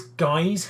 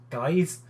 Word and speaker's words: Gijs: Now, actually, strictly speaking, I'm going to say it's Gijs Hendricks, just because IJ in, like, say, Van Dyke is pronounced Dyke, so I'm going to say it's Gijs.